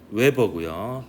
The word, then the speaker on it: 웨버: 단위는 웨버고요. WB라고 쓰고 웨버라고 읽습니다.